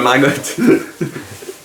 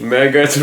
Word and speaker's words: Margot: dit Margot dis pas Margotte tu sûr dis pas Margotte en anglais dis pas Margotte si c'est prononce toutes les lettres en anglais person Marot Margot Robby Mergot Robby non Mergot du